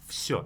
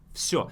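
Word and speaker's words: всё: but it's mostly like show with an F sure it's much easier to pronounce that way sure and it means everything I liked everything so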